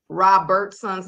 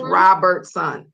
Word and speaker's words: Robertson: did realize uh that I still said Mr roberton's name wrong when I went took him in the break out R so it's Robertson not Roberts it's Roberton so now uh it's